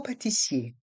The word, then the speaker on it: pâtissier: Le robot pâtissier. Le robot pâtissier. Dans le mot robot, le T est muet. Et dans le mot pâtissier, le E et le R se prononcent E.